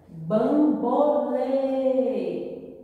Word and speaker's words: Bambolê: Bambolê. Lê é a sílaba mais forte e o som é fechado. Então, se o som é fechado, usarei o acento circunflexo.